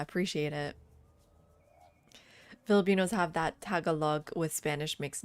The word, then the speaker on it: Tagalog: Tagalog. Tagalog. You're right. The emphasis.